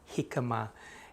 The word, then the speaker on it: jicama: Jicama originally comes from Mexico and it is a Mexican Spanish word, jicama.